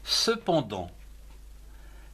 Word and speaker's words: cependant: Consonne T muette en fin de mot. Comme par exemple les mots suivants. Cependant, C-E, ce, P-E-N, pan, D-A-N-T, dans, cependant.